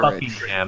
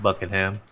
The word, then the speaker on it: Buckingham: I'm saying Buckingham. Yeah, that sounds good. All right, you begin to march north. Buckingham, Norwich, and Yarmouth would be the best, I think. They're Buckingham, not Buckingham.